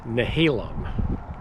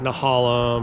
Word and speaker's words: Nehalem: Okay, so you pronounce that river named Nehalem. Nehalem, not Nehalem or Nahalium or something like that.